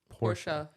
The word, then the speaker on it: Porsche: pronouncing it the way it's supposed to be pronounced like I don't like when people say Porsche I'm like it's pors or Cartier right or whatever not CER CER